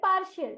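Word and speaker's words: partial: इस शब्द का उच्चारण हम करेंगे, PAR का उच्चारण होगा पार और TIAL का उच्चारण होगा शियल, इसलिए इस शब्द का उच्चारण हम करेंगे पार्शियल।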